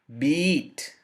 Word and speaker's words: beat: the right hand side you can think of the long vowel which is the double e sound ee sound so the words are number one bit beat bit beat but non-native